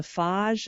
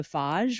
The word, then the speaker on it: Fage: but I actually I love Greek yogurt, and it's is it the Fage? I always say it wrong. Fage. Yes. And I say the same, I think, Faj.